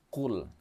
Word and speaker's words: qul: Ada huruf yang mirip, yang pertama huruf qaf, yang kedua adalah huruf kaf. Sedikit saja kita salah membacanya, maka akan menyebabkan salah arti. Qul, huruf qaf, qul ya, nah qulhuwallahu ahad. Kalau qul artinya katakanlah, tapi kalau qul artinya makanlah.